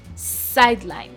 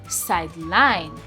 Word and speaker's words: sideline: So sideline as a noun can sound as sideline. As you can see, sideline. So basically the first syllable which is side the side there has the stress. But as a verb, it's sideline.